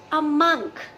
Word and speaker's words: monk: इज MONK अ मॉन्क, a Buddhist मॉन्क, or is it a monk? MONK का correct pronunciation होता है a monk.